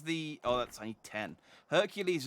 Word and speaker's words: Hercules: hercules is the roman pronunciation here isn't isn't heracles the greek pronunciation the hydra was the